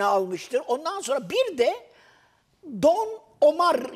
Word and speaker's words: Don Omar: Ondan sonra bir de Don Omar yazılır, Ömer okunur.